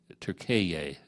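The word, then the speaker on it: Türkiye: We often mispronounce other countries. Even Turkey now wants to be called Turkiye.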